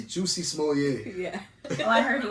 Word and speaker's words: Jussie Smollett: Jussie Smollett, however you say his name. Hey, it's Juicy Smollett.